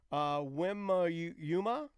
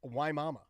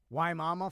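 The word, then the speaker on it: Wimauma: She said, hey, just a note, Wimayuma? Wimayuma. Yeah, she said it's pronounced Waimama. Waimama, Florida.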